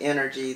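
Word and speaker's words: Innerg: So the name of my company is Energy Consulting, and it is spelled I-N-N-E-R-G.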